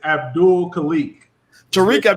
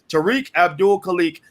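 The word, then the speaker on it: Tariq Abdul Khaliq: hear you right okay wow i mispronounced your name and didn't even remember the mispronunciation my bad brother tariq abdul kalik and also uh zakiyah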